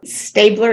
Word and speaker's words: Staebler: And I believe it's Staebler. Staebler is correct.